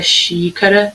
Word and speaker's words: xícara: Xícara. Então, é o xi.